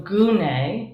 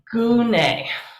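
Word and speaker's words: γυνή: this word gunai and there's no y in greek but the y or the y often comes from the the upsilon the u sound so gune is woman i picked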